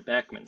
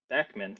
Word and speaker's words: Bachman: I will mention real quickly is the uh pronunciation of the common name the Bachmann spare is their backman Sparrow most people say Bachman Sparrow because I think there's this this this bias